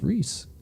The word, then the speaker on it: Ruhs: know Ron you know his last name is pronounced Rhys it's spelled Russ I dunno yeah there you